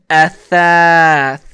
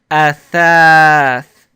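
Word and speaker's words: أثاث: Now you hear again, if we pronounce this word Athāth, you hear that sound in the third letter. Athāth. That is an alif, and you learned the long vowel alif before.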